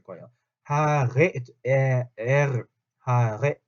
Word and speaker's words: Haare: 하레, 에르, 하레 요 발음, 레, 하레. 그냥 디 하레 하고 다르죠. 하레 하면은 혀가 떨리면서 입 앞쪽에서 하는데 하레 하면 뭐예요? 목이 긁힌 하레, 하레 이렇게 소리가 난다.